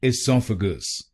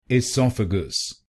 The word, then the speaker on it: esophagus: its correct pronunciation is esophagus esophagus this word has four syllables pronounce the first syllable i.e.